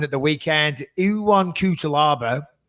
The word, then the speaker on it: Cuțelaba: the weekend you want kutol arbor I on is how I thought it was with E 1 q2 lob is how you pronounce it taking on magum ed